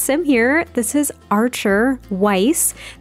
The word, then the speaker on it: Weiss: So our very first sim here, this is Archer Weiss. That is how I pronounce the last name.